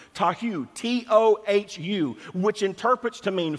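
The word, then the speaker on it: תֹהוּ: 8414 in hebrew which is the hebrew word tahu tahu t-o-h-u which interprets to mean formless confusion and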